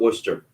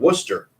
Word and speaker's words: Worcester: It looks like that's how it's spelled, but the only way I know is because there's a city outside Boston called Worcester. Yeah. WORCESTER. Yeah. So that's really how you say it, man.